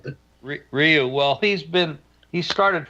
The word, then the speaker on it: Ryu: I just say Ryu, like it's spelled. But... Ryu.